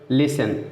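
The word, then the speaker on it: listen: Example देखते हैं, लिसन, लिसन में देखिए क्या है, यस के बाद टी आए तो यस साइलेंट रहेगा, लिस, ठीक है, तो टी साइलेंट कहेंगे।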